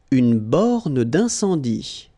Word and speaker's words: une borne d'incendie: Une borne d'incendie. Okay, final here not pronounced, final here not pronounced. Une borne d'incendie.